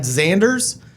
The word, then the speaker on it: Xanders: Joined with Xanders, spelled X-A-N-D-E-R-S. Also not phonetic. This is one of our first things we have in common. How are you, Mr. Xanders?